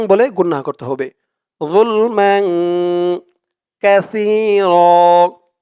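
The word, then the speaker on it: كثير: গুন্না করতে হবে জুলমান কাসির কাসির এখানে কাসি বলা যাবে না বলতে হবে কাসি কারণ আরবিতে এখানে ছা আওয়াজটা একদম নরম পাতলা করতে হয় জিহ্বার মাথা উপরের দাঁতের মাথার সাথে লাগে সার উচ্চারণটা করার সময়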